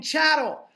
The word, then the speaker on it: chattel: you can't be fucking chattel. What is chattel? Chattel rhymes with cattle.